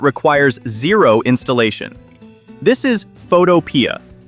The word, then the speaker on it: Photopea: This is Photopea. Mispronounced as Photoya by some, this is an advanced web app that runs entirely inside your favorite web browser.